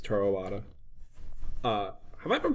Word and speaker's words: Toru Iwata: Once again, at this investor meeting, it's Toru Iwata. Have I been pronouncing that name right?